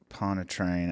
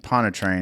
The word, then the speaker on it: Pontchartrain: Pontchartrain. I think Pontchartrain is how you say that, but it's a famous lake.